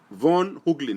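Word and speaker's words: Von Heuglin: Von Hooglin is spelled V-O-N.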